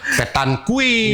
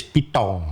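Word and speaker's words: pétanque: ini juga Kita bacanya keliru. banyak ada yang petan kui Iya, petan kui. macam-macam. Tapi kalau di Prancis itu bahasa Prancis pitong.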